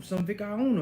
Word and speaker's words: vicuña: See, I've learned how to say it right. And he was like, you're gonna go get some what? And I was like, man, I'm gonna go get some vicayuna, man.